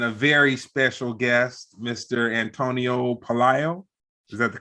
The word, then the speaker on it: Antonio Pelayo: on people and a very special guest Mr Antonio Palio is that the correct pronunciation yes it is thank you for having